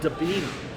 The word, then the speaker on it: Debinha: Now, the second person is called Debina. Her name is spelled Debinha.